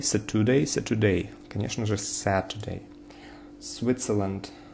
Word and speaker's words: Switzerland: Switzerland, Switzerland. The first syllable is stressed.